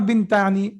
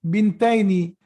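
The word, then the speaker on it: بنتين: And when it is in Mansoob state, it is Bintaini, right? Or it's not Bintani, it will be Bintaini.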